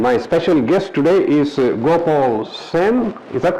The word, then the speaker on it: Gopaal Seyn: Nick Nickham, and my special guest today is Gopaal Seyn. Is that correct? Did I say it correctly? Okay. Yes. Gopaal Seyn, and he is an artist, and he's going